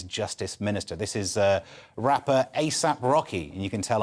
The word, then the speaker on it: A$AP: This is rapper A$AP Rocky, and you can tell I'm clearly aware of the work, given that I had to ask if you pronounce it $AP. You don't.